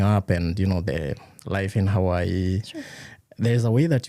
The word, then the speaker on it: Hawaii: There's a way that you guys say Hawaii that is Yes. not the way we say it. Correct. I think we butcher it. Yes. We are sorry. We apologize. Yes. But in all fairness, when it's spelled, it is not spelled right. So it can be misleading. Okay. How are we So- supposed to say it? It's Hawaii. Hmm? Hawaii. So in the Hawaiian language, they have something called